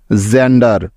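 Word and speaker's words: gender: ই এন জেন এবং ডি ই আর ডার জেন্ডার বোঝা গেল এবার চলো দেখে নেয়া যাক জি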